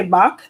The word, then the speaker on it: Bach: is written by david i want to say bach like the musician like the composer um so hopefully that's